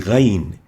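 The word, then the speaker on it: غين: It's like the ayn, but with a dot on top of it. It has again no English equivalent. It's like a gargling sound, pronounced like a gargling sound, and it articulates at the mid-throat, and that's why it is classified as a glottal throat letter, and it's called ghayn,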